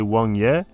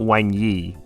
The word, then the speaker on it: Wáng Yé: And yeah, his name's actually Wong Y and not Wang Yi.